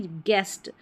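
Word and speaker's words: guest: जैसे बेस्ट में आता है वैसे ही बी ई एस टी बेस्ट तो जी यू ई एस टी गेस्ट जी यू को ग पढ़ा जा रहा है।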